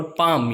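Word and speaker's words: palm: फिर बाम जो हम लगाते हैं, बाम, और पाम यानी हथेली। ओके, सो आप नोट कीजिए ALM है सब में और एल साइलेंट है।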